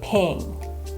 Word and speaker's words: PNG: You'll not only see this written as PNG for portable network graphics, but you'll also hear people say ping.